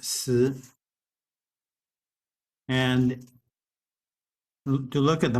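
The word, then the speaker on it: 死: If we look at the word for death, the modern character for death, it is pronounced si.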